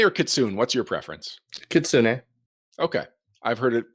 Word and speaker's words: kitsune: Kitsune. Okay. I've heard it pronounced both ways. I know it's a Japanese word, and I've told Japanese has hard start and stops to every syllable, so it would be Kitsune.